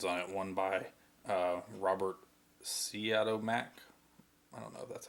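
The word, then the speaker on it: Siodmak: has two versions on it one by Robert Seattle Mack that's how you pronounce it and one of my Don Siegel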